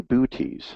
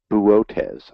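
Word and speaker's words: Boötes: in a galaxy in booties so let's buotes i think is the actual pronunciation and let me see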